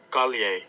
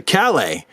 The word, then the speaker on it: Calle: the video hold on hey Google how do I pronounce Sasha Calais Sasha Collier calier Sasha Collier calier and I was pronouncing it Sasha Calais I've heard some people call her Sasha kale Sasha Kalia wow okay I'll do better